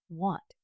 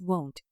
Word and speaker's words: won't: It's not want, it's won't with a round o sound.